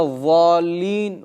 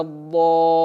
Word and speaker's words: الضالين: Некоторые заменяют букву «дад» на межзубную твердую «за». فيقول غير المغضوب عليهم ولا الضالين. И это также является ошибкой, потому что они меняют буквы местами. Правильно читать غير المغضوب عليهم ولا الضالين.